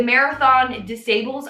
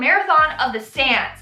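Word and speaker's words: Marathon des Sables: this guy did the marathon disables i i obviously pronounced it wrong it it's called the marathon of the sans and it's like a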